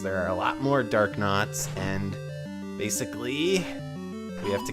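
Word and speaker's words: Darknut: Now, it is, I think, technically a dark nut, but I've always pronounced it dark knot, and I think that just sounds cooler, but dark knots are enemies that have shields and swords, of course.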